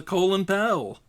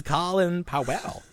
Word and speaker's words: Colin Powell: Because not everyone was like well who the hell's a colon pal? I know that's what How do you pronounce that? Isn't it Colin? It's Colin Powell.